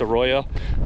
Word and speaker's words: arroyo: Arroyo I've been saying it wrong so it's Arroyo hopefully I'm not saying it wrong still but